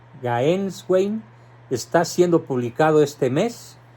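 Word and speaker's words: Gänswein: Se escribe G-A-N-S Wayne. Gaenswein.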